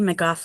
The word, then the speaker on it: McGough: On the screen, you'll see McGo. Am I saying it right? I've never pronounced your last name. It's like spaghetti, McGough like cough.